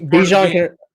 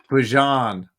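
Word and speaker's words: Bijan: This is This is Bjan or Bjon can only do so much. Bjon.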